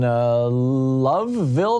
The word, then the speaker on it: Loveville: Ramon in Loveville, Maryland. Am I saying that right, Ramon? Yeah, you're saying it right. What's up? Like the Love Boat.